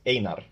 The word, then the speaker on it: Einar: Well, I just wanted to thank you for pronouncing the names correctly. So it's Einar, and I was saying Einar. Sorry about that. Yeah, you're correct. Einar.